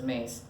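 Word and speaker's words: Myss: a long time ago or is mace or miss and however but i believe she pronounces it as mace most everyone a new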